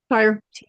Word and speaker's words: Tyre: Okay, how do I pronounce that name? Tyre. It's Tyre. Tyre.